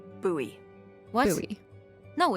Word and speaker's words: Bowie: knife it's actually pronounced buoy what buy no it's like the last name like David Bowie oh my gosh buoy are you just messing with me no that's how it's pronounced buoy knife okay well knife